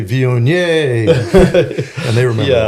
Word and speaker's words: Viognier: I've always thought the n i e r would be vier. Um, but I I think you most French people kind of relax a little bit and they're not pronouncing every uh syllable so strongly. So yeah, vion is it's fine. It's close enough for us.